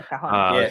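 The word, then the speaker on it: cajón: Is that how you pronounce it? Cajon, right? Yeah, cajon.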